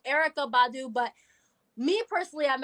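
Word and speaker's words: Erykah: I know a lot of people would pick era ER oh wow why am I saying her name wrong Erica Badu but me personally I'm actually been more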